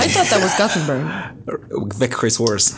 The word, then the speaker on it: Växjö: Where you guys seeing a K there? Where do you see a K? The the X Växjö. I don't know. Växjö. Växjö. There's no K in this, you guys. It's spelled v a x j o.